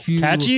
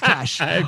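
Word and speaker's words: cache: and you can check your uh catchy uh catchy is that how you say it see a that's how you pronounce it yes really no i'm just kidding it's cash um but yes yes the c-a-c-a-c-h-e that's your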